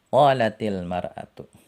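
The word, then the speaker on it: قَالَتِ الْمَرْأَةُ: Kalau mau dibaca bersambung menjadi qalatil mar'atu. Nah, seperti itu bacanya.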